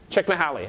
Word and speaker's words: Csikszentmihalyi: This is by this guy who has this unpronounceable name. Can anyone say this name? Mikhail. Say that? Csikszentmihalyi.